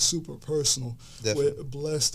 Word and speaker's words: BLXST: Blessed is really dope. It's spelled BLXST with a period at the end.